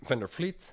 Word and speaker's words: van der Vliet: slowly start um my name is vender Fleet I know that's difficult to pronounce I am from Amsterdam I live here